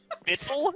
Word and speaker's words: victuals: Bittle? It's pronounced bittle?